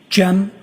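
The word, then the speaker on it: Cem: I also spell it uh with a G. GM. And could you tell us your name, sir? Jen.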